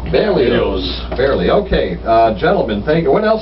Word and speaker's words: Berlioz: How do you say that? Berlioz. Berlioz. You do say the Z. Berlioz.